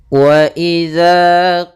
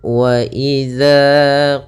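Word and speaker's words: وَإِذَا: pada lafaz di sini hati-hati dalam pelafalan dalalnya jangan sampai terbaca dengan bacaan dengan Za yang besar akan tetapi di sini bukan Z ya bukan akan tetapi dia dalzal kecil dza posisi lidah kita adalah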